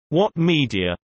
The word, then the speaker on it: Ouat Media: OUAT Media, pronounced What Media, is a film sales and distribution company founded in 2006 that specializes in short-form content.